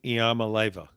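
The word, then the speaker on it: Iamaleava: pike in the heart of halls can you pronounce nico's last name nico iamaleva that's perfect look at you well you know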